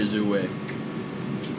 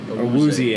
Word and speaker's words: Awuzie: Chidobe Azue. That's not even his name. Awuzie.